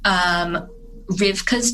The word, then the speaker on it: Rywka: of Anne Frank is Rivka's Diary. It's spelled a little bit strangely for American eyes. It's Rywka.